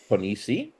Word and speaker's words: Ponissi: this lovely fan film Mr poni is that how it's pronounced yeah mostly hello mostly and uh